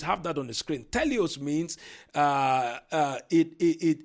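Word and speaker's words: τέλειος: It's from the Greek word teleos. Teleos is spelled t e l e i o s.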